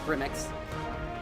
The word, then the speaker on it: Grim.exe: Tomorrow is the release date for, they say Grim.exe, but everyone pronounces it Grimmix.